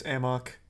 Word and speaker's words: amok: much of a headache it's not pronounced a muck in the game it's amok it's not a muck